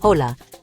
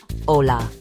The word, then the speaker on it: Hola: Hola. You can use it any time of day in any situation whether it's formal or casual. The pronunciation is simple. Hola. Notice the h is silent.